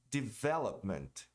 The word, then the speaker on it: development: Development. E também tem o verbo aqui, ó. Develop. Muita gente pronuncia o verbo como develop e desenvolvimento development.